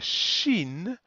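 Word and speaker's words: שׁ: sin that's this one here sin we pronounce socks whereas the sh the shin we pronounce sh as in shoot and the diacritics are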